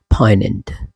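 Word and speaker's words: poignant: came to know that okay this is pronounce like पनेंट finite obedient इसको लोग अक्सर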